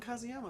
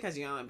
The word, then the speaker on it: Kazuma: oh kazuma because yama i say kazuyama but i think it's kazuma kazuma just studying abroad i'm